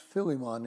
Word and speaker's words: Philemon: Now, the letter Philemon, pronounced Philemon in Greek, is a book that people use to describe the change in people's hearts when they come to Christ.